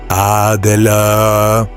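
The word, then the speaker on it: AGLA: Then point into the center with the tip of the dagger and pronounce a g a in this way. Adela the north is the quarter of the element of earth.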